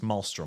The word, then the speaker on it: Maelstrom: Wait, there's oil rigs in Malistorm in Maelstrom. Mailtorm. Is it maelstrom or malistorm? It's spelled m a e ls. I think it's s t r o m. So I think it's malstrom.